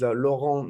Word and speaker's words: Laurent: uh my my name my my name is lauron n okay and now for everybody listening and